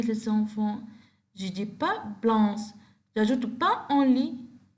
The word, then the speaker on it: blanc: Le papillon est blanc, without pronounce of C.